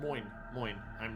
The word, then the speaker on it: Moines: Better salvo definitely is to the side of Monhouse Keel, even though it's not a lot. Moine. I mispronounced it there. Moine.